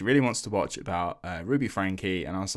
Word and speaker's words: Ruby Franke: her name is not Ruby Frank, it's Ruby Franke. I've been saying it wrong for months. Yeah, I looked at that, and in no way did I think, oh, that's pronounced Frankie, until I watched the